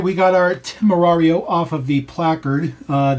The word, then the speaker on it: Temerario: But Temerario, you have an accent to it. Obviously, it's a Spanish word, by the way. It's not Italian.